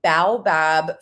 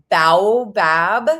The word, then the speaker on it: baobab: It's this baobab fruit pulp.